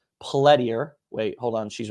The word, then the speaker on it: Pelletier: out her last name plediar wait hold on she's right there let me let me bring her back how do you say your last name pelletier see ya pelletier jessica pelletier that's p-e-l-l-e-t-i-e-r